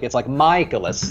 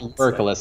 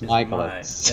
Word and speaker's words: Mikolas: Well, I remember ever since Josh told me it's like Mikolas, like it's not Urkelis, it's Mikolas.